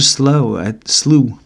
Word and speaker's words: slough: go run that preacher slew. How you say it? Slew. Slew. It's a slew of words. And a slew of mud.